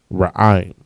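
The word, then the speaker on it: רעם: All right, and thunder in Hebrew is ra'im. Ra, I, and ma. The ma and the I are connected, which is pronounced ra'im. The word time in Hebrew is pa'im.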